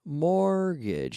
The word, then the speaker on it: mortgage: Mortgage. Now we have M-O-R-T-G-A-G-E, but the T is silent.